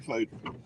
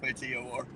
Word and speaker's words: Fator: He spells it F-A-T-O-R. Is it Fader or Fator? Goddamn it, it's Fader. He's not Klingon. If he's Klingon, it'd be Fator.